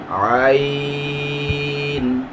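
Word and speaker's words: ع: জায়গাটা থেকে উচ্চারিত হবে দুই নাম্বার মাখরাজ হালকের মধ্যখান হইতে উচ্চারিত হয় যথা আইন হা আইন হা আইন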